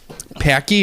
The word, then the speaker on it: Paqui: on there Oh horrible packy is that how you pronounce it I think it rhymes with hockey hockey hockey okay so